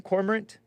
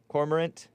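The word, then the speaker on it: cormorant: you pronounce that thing corant c o r m o r a n t the ant the same ending is pheasant corant Kofi uh Court help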